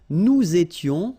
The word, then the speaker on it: nous étions: Nous étions, little liaison here to make it more beautiful. Nous étions, okay? Final S not pronounced, remember?